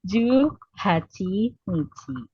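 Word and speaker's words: 十八日: Jadi ini bacanya apa? Ada yang tahu? Juhachi, betul. Jadi ini salah ya. Harusnya Juhachi Nichi.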